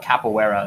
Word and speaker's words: capoeira: So you say it's called capoeira.